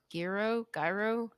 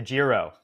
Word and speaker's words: Giro: And then last question, which is kind of 2-part, is which race is your favorite, the TDF, or I'm probably going to mispronounce this, Gyro? The Giro. Giro.